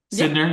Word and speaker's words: Sydnor: For those who may not be familiar with Cole and Charisma, and now please correct me if I say the last name wrong, Sydnor? Sydnor, yeah, you got it.